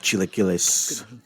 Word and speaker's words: chilaquiles: Oh, I fucking love chilaquiles.